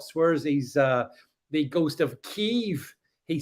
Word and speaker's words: Kiev: D is saying you pronounce Kiev with a silent E.